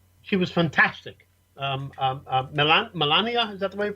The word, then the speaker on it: Melania: i've ever heard she was fantastic um milan melania is that the way you pronounce her name yes um uh uh i